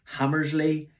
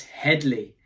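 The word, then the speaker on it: Hedley: getting his name wrong hammersley it's Headley he's the director general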